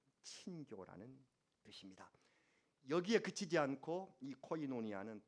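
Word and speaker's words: κοινωνία: 사귐에 헬라어를 무엇이라고 합니까 알고 계시는 것일 텐데 발음 때문에 아마 말씀 안 하실 거예요 제가 말하면은 우리 같이 따라 사시기 바랍니다 코이노니아 한번 더 코이노니아 코이노니아 영어로는 펠로우쉽 우리말로 교제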